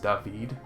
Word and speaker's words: David: It's pronounced David, glitched it in their own unique way, and put their own paint scheme on it?